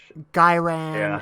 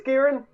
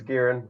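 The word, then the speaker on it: Ghyran: hi your life yeah guy ran actually I think it's Garin I feel like I've I've heard that from from the tippy tippy top I think it's Garin like I could be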